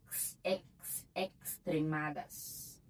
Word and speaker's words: extremadas: A gente fala o X, nós tem som de Z, né? Exemplo. Em espanhol é extremadas. Tem som de tax, tá?